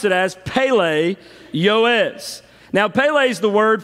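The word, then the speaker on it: פֶּלֶא יוֹעֵץ: of the Hebrew language so we're going to pronounce it as Pele yoes now Pele is the word for wonderful it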